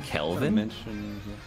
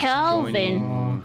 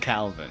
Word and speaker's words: Kelvin: No, it's spelled with a K. It's spelled Kelvin. Oh. Yeah, it's not just a guy called Calvin. It's Kelvin. Right, wait, we gotta join round one.